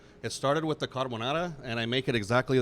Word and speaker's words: carbonara: carbonara. I don't even know if I'm saying it right. Yeah. I was calling it a carbarone.